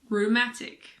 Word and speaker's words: rheumatic: words girin ghetto Ghost similarly if a word starts with RH the H is silent like in rhinoceros or rhythm I always forget how to spell these two words there are also a lot of medical and scientific words that start with RH for example Rheumatic or rhinoplasty if a word starts